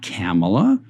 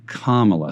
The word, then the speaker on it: Kamala: mistakes i'm understanding so let's just say kamala harris not kamala not kamala but kamala so we'll try and